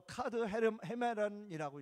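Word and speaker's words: καθ' ἡμέραν: 날마다 헬라어로 카드 헤메런이라고 읽어요.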